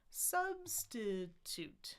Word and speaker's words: substitute: Syllable stress though, it's not going down the stairs. It's primary, no stress, then secondary stress right in the middle. So it's da da da da da da substitute substitute substitute or as you prefer.